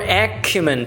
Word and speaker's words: acumen: Alright, so that's the word acumen today. It's an adjective and this is a pronunciation.